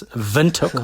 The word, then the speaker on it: Windhoek: And the city you're in, and I hope I didn't mispronounce it, is it Windhoek? Windhoek? We'll forgive you for being Australian, Jamie, but it's Windhoek.